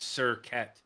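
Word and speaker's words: Serket: insects not ARA so it must be pronounced sir cat if it's Egyptian kind of how their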